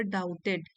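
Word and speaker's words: doubted: Have you ever डाउटेड? B silent है।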